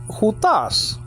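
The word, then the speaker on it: οὗτος: pronoun, which means, okay, he or this, okay, hutas. Hutas is spelled out Omicron, Upsilon, Tau, Omicron, Final, Sigma, Omicron, nowadays Omicron, but I'm not pushing that into this.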